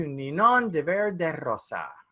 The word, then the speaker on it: Ninon de Verde Rosa: to introduce you to ninon de verde rosa i'm going to say that's my speech the way you pronounce that is absolutely perfect which is very rare well say it's to